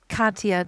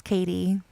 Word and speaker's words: Katya: I was doing that to um Katya too. Um, I was reading her name as Katie for a really long time instead of Katya and I feel so